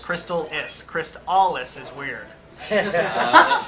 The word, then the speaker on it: Crystalis: It's pronounced Crystalis.